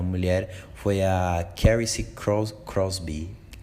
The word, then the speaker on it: Crosby: foi a querem se crosbie se não me engano é crosby que se pronuncia ela tinha 19 anos